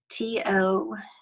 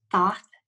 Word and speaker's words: Thoth: T-O-T-H. Thoth, Toth, or Toth, whichever way you want to pronounce that.